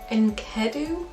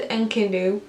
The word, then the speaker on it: Enkidu: And this man was Enkidu, I think that's how you pronounce it, and he lived in the woods in the wild with the animals.